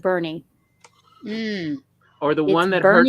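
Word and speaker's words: Boerne: so well in texas there's a town that that is spelled like like born like the born identity but everyone there calls it bernie or the one that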